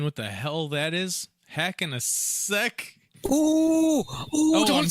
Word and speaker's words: Hell in a Cell: Hacking a Ceck. Ooh, don't say that word. Hell? I can't say hell anymore. Oh, no. A Ceck. Yeah. Hacking a Ceck. It was a big... It's a soft C for those of you that don't know.